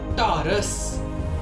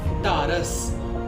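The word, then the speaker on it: ਢਾਰਸ: इट is pronounced as टारस, टारस।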